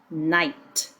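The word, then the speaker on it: knight: It, night. Notice the KN. It only makes the N sound because the K is silent when in front of the N. So KN makes n.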